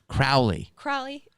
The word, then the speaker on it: Crowley: Crowley. Well, he said Crowley because it rhymes with holy.